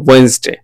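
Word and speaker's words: Wednesday: সেটা হচ্ছে স্পষ্ট হওয়া যায় তাহলে তবে এটার উচ্চারণ হচ্ছে ওয়েনসডে okay days in calendar এবার আমরা একটা ক্যালেন্ডারের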